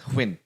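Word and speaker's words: Huynh: Hun. In Vietnam, it's Huyn.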